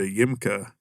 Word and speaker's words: YMCA: it's called casa de yimka so if you like phonetically sound say ymca you know um it was actually